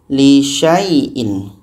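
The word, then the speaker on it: لِشَايْءٍ: Jadi bacanya sya bertemu ya. Syai lisyaaiin ini alif ini abaikan. Contoh walaquulanna lisyaaiin inni lisyaaiin. Lisyaaiin sya bertemu ya syai dibaca pendek saja.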